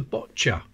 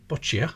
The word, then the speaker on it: boccia: And there's the boccia. That's definitely how it's pronounced, not boccia, like some people say.